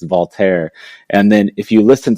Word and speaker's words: Walter: is that remember Remy we were all calling him Walter forever but then it's voler and then if you